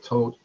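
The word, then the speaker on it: Tóth: Mihai Tote, it's spelled T-O-T-H, but there's no T-H sound in Hungarian, so it's just Tote.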